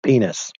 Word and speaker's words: PNAS: So, the organization's name is PNAS, pronounced penis.